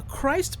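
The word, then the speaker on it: Kreuz: the world famous uh Christ market and which is spelled weird but um anyway that's how it's pronounced but um we stopped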